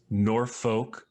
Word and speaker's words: Norfolk: the week uh sunset plaza mall in in norfolk nebraska which i've been told is pork nor